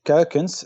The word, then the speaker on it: Kuykens: start with already um most people struggle to pronounce my last name that's for sure and what it means curcums but in in dutch